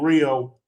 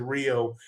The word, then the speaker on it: Rio: I I tell guys when I see gringoes here in Rio, that's how you pronounce it. Hio in Portuguese.